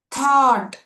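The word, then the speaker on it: thought: ಥಾಟ್, ಥಾಟ್. Again, GH is to be silent over here.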